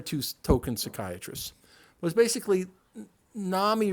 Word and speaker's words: NAMI: token psychiatrists was basically Nami rhymes with Mommy because the vast majority